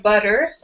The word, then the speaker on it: butter: Yeah, so butter has 2 T's in it, but we have a D sound when we say it. We say butter.